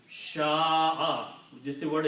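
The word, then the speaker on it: شاء: So the sound of these three letters will be sha'a.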